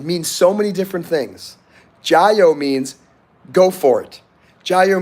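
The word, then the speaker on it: 加油: to your car and the expression in Chinese is Joo so go ahead and repeat it so you know how to say it Joo soon as I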